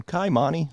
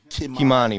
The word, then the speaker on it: Kimani: I say it like such an American. Kaimani Marley. Kimani Marley.